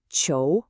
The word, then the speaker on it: 囚: So, when you put those two parts together, you get this character, chou, which is pronounced ch'ou, and its meaning is exactly what it looks like, prison, or the act of imprisoning someone.